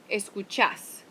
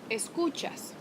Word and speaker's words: escuchás: Entonces, con acento es escuchás. Sin acento es escuchas. Escuchás, escuchas.